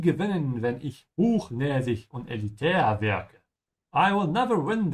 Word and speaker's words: elitär: Und elitär sounds just like the English elitist.